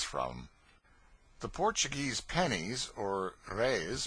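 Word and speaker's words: reis: the Portuguese pennies or Rays pronounced rays are prodigious it takes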